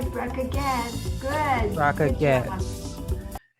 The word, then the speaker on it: Bracha Goetz: Pronounce that for me? That's right, Bracha Goetz.